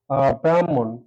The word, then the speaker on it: ব্রাহ্মণ: কিন্তু যখন উচ্চারণ হবে আমি ভাঙ্গিয়েছি হ যোগ ম কিন্তু উচ্চারণ হবে ম এর সাথে হ ম এর সাথে হ যেমন উদাহরণ হিসেবে নিতে পারি ব্রাহ্মণ এই শব্দটার উচ্চারণ একটু খেয়াল করি আসিকেল ব্রাম হল উচ্চারণটা হবে এমন আগে কি আসবে যদি ভাঙ্গানোর সময় এসেছে হ ম টা পরে এসেছে কিন্তু উচ্চারণের ম টা আগে হ টা পরে তাহলে দেখা যাক নির্ণয়